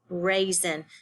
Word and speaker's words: raisin: the word, raisin, but it's actually an S, S-I-N, raisin. So the A-I says A, and the S-I-N says zen, raisin.